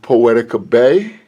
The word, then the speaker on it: Poetica Bey: about now here in the studio, we have Poetica Bey. Did I pronounce that right?